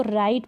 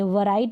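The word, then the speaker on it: write: अब देखिए इसको राइट पढ़ेंगे, वराइट बोलते हैं, नहीं, इसका उच्चारण राइट होता है।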